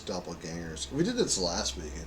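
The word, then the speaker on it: Doppelgängers: ginger in a room Doppel gingers it sounds like a fist fight oh it's not it's not pronounced that it's Doppel gangers we did this last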